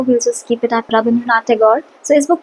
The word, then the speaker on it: Rabindranath Tagore: एंड यार मुझे लगता है कि रविंद्रनाथ टैगोर जो है ideally it's नॉट the correct pronunciation. I think the correct pronunciation is रविंद्रनाथ Thakur, the Bengali one, but okay, like for